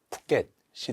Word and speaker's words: 푸껫: 예시가 이탈리아와 또 부켓인데 현지 언어로 발음 하면은 이탈리아 푸켓이 되어야 한다고 하더라고요 된 소리를 쓰지 못하는게